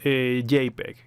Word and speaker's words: JPEG: Y es el archivo JPG o en inglés JPEG. Sería la pronunciación del formato.